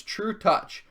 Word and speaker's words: Trutacz: And if you didn't know, that's actually how you pronounce it. It's Trutacz.